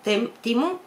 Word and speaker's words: Temu: Se escribe Temu, pero dicen que se pronuncia Temu.